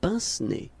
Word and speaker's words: pince-nez: Yeah, it's pince-nez, I think. Well, I know what you're talking about. Pince-nez.